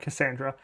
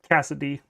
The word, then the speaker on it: Cassidy: Not Cassandra. Cassidy. I've been saying her name wrong the entire time I've been playing this game.